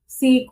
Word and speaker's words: sake: For the heart-warming drink called sake was very expensive, देखो यहाँ पे इसके ऊपर ये डैश सा है इसलिए इसको साके प्रोनाउंस करते हैं, लेकिन हम सेक लेके बोल सकते हैं अभी इंग्लिश में।